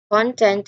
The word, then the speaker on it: content: It has the stress on the first syllable, and then content as a noun, the information also has the stress on the first syllable in this context. So I've pronounced it incorrectly earlier. Let me correct that. I am content with this content. Again, I am content with this content. I stand corrected, everyone. I am content with this content. So both words has been stressed on the first syllables, but it has different